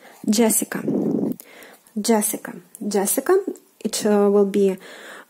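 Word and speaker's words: Джессика: And then we follow with the corresponding letters Jessica. Jessica. Jessica and Jessica. The Jessica. So make sure that you pronounce this consonant combination correctly.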